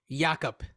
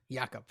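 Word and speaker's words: Jakob: the situation but I'm just gonna correct you all right Jacob yakub yakub I know I say I say it wrong yeah um uh and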